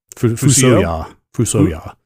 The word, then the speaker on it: Fusoya: Cecil is the canonical pronunciation. Rydia? Fuck that. Rydia? Rydia, I believe. Rydia? Yeah. Okay. Fusuya. Fusoya.